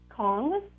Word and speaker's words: Kong: say that word again kong kongs yep it's spelled k-o-n-g like king kongs oh like king kong